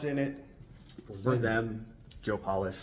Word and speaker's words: Polish: it for them Joe polish like nail polish or shoe polish that's how you pronounce it that's Joe founder of